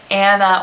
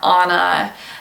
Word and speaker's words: Anna: the name Anna or onna this is a form of Hannah for many many languages that means grace again this thing can be pronounced either way in english-speaking countries it's usually pronounced Anna and basically every other